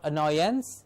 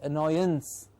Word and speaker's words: annoyance: suffix of ance so it's not annoyance it's annoyance so a n c e becomes or gets the pronunciation of anz ands ance gets the